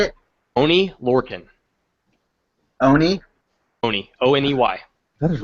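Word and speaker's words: Oney Lorcan: Oni Lorcan.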